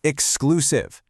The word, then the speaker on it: exclusive: Moving right along, we arrive at the word exclusive. Listen to that hard X sound.